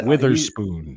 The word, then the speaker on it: Witherspoon: How do you pronounce that? He's Witherspoon.